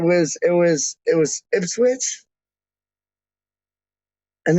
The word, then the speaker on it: Ipswich: it was it was ipswich and they were calling it like ips whites or like ips if i don't know they weren't calling it proper and then like they